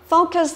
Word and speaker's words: focus: Đó, thì từ này cô nhắc lại này, vừa là động vừa là danh, và trọng âm của nó do vào âm thứ nhất, focus.